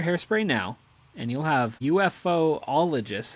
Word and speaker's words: ufologists: Get Berkshire Hairspray now, and you'll have UFOologists. How do you pronounce that? I think it's just ufologists.